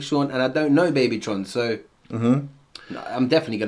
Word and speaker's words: Babytron: Yeah, Big Sean and Babytron.